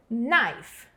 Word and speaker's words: knife: Knife, knife. Esse K não tem som, mas o primeiro som da palavra é o som do N, ó.